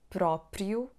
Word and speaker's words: próprio: But when we say próprio, próprio, it has the sound you.